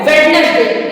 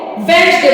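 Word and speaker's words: Wednesday: done नहीं होता है बहुत से लोग कहते हैं इसको वेडनेसडे ये नॉट वेडनेसडे ये होता है वच डे यहां पे भी डी डी जो है डी का साउंड प्रोनाउंस नहीं किया जाता है इसलिए इसको वेंडे बोलते है ये होता है वेंडे अब आगे हम एफ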